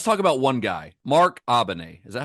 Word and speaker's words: Abene: I looked it up. Abene. A bean. It's not a bean.